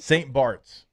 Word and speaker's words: St. Barth's: But it's spelled like Barth.